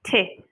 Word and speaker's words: thé: Et on ne prononce pas le TH comme th, on dit thé.